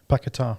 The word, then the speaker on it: Paquetá: I need to pronounce that properly. Paquetá, yeah.